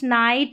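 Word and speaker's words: night: यहां पर जी और एच का लाइट नाइट राइट।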